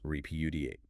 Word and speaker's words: repudiate: Repeudiate. Four syllables stress on the second.